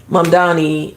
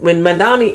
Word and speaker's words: Mamdani: We're gonna talk about the race in New York with Mamdani and Cuomo, who ran against him, who was